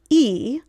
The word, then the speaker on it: y: in this manner with the conjunction y in Spanish pronounced e which means and between